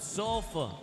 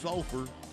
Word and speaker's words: Sulphur: You pronounced sulfur like you were Australian. No, I was saying it like a Cajun. Sometimes they don't pronounce their R's either.